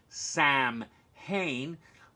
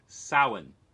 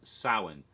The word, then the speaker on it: Samhain: the word the name Sam hain it's not pronounced Samhain people always say that but in Gaelic gets pronounced saawan the M is sort of silent saawan so that was the